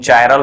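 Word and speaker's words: chiral: तुम चायरल भी बोल सकते हो, कायरल भी बोल सकते हो, ये तुम्हारे ऊपर डिपेंड है क्या तुम प्रोनाउंसिएशन कर रहे हो, ठीक है।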